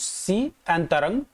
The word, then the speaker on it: Sitrang: नाम चुना गया है चित्रण का चित्रण यहां पर देखिए विच इस प्रोनाउंस सी अंतरण इन डी थाई लैंग्वेज लैंग्वेज इस तरीके से इसका प्रनंसीएशन होता है तो अगर आपसे एग्जाम